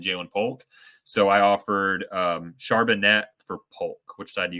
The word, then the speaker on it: Charbonnet: By the way, Todd, I believe it's pronounced Charbonnet.